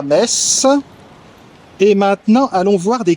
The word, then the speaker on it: Metz: Je précise que la ville s'écrit avec un thé mais se prononce mess.